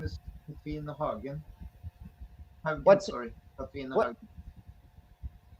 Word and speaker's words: Haugen: Katrina Hagen.